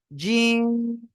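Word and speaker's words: جيم: শক্ত আওয়াজে উচ্চারণ হবে জিহ্বার মধ্যখান তার বরাবর উপরে তালুর সঙ্গে লাগিয়ে উচ্চারণ করবেন জিম জোরে জোরে বলেন জোরে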